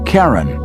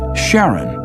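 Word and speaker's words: Charon: christe suggested the name Karen after the ferryman of Pluto's underworld in Greek mythology but preferred to pronounce it Sharon more like his wife's name Charlene from the Motions of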